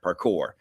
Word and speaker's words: parkour: right there par parkour I'm probably saying that wrong but uh if you've never seen that y'all it is some crazy stuff that these kids are doing and someone Patty says I'm saying it right parkour okay so good thank